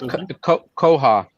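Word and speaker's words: CalOHA: It's Koha, California Outdoor Hospitality Association.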